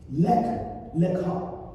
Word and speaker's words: Lech Lecha: Lech Lecha. And let me spell that word for you.